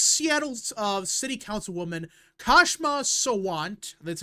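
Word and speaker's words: Kshama Sawant: And there's an ex Seattle uh city council woman Kashma Sant.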